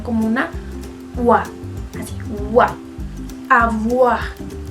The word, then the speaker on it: avoir: Y otro caso que vimos hoy es la O y la I, que suenan como wa. Si se acuerdan del verbo avoir, yo no decía avoir, sino avoir, porque la O y